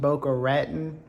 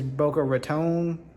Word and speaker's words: Boca Raton: It has recently come to my attention that is not pronounced Boca Raten. I think it's Boca Raton. Raton some something like that.